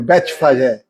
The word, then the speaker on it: Betfagé: É assim que fala a pronúncia? Betfagé? É diferente. Como é que é a pronúncia? Vai lá. Tudo bem. Então vai aportuguesado mesmo. Betfagé.